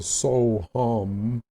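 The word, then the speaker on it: soham: do then you have what you call the soul hum spelled s-o-h-a-m or the hum saw which is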